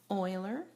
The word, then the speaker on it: Euler: now this book section is about Oiler circuits pronounced Oiler and so we need